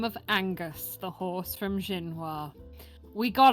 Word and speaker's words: Aoinghious: However, Angus is indeed canonically spelt AOINGHIOUS. Angus. Oingios. Angus. Gotta say it like Goofy.